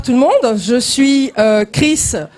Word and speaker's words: Kriss: Bonsoir tout le monde, je suis Chris Brochek, donc mon Chris s'écrit K-R-I-2-S et Brochek, B-R-O-C-H-E-C.